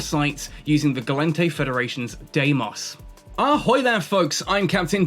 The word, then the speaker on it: Deimos: Deimos was actually pronounced in Greek closer to Deimos, as far as I'm aware, and it means dread.